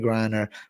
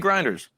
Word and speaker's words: Griner: What do you think about Brittney Grinders? Yo, Brittney Say her name Griner. right, correct.